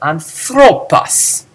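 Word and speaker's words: ἄνθρωπος: But here, when the ending is short, you can emphasize a different syllable. Anthropos.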